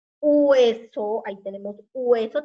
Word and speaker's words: hueso: Hueso, ahí tenemos hueso, también se pronuncia U, no gu. U sería con la G, pero tenemos que decir hueso, ¿ah?